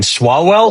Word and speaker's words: Swalwell: Swalwell? Swalwell, yeah.